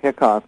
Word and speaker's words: Hicok: me by the way my last name is spell is actually pronounced hiccups my ancestors didn't know how to spell oh he caught ya